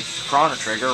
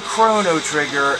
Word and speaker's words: Chrono Trigger: at least the NES still has games like chono trigger right chono trigger oh does the pronunciation matter yes this isn't like the cathering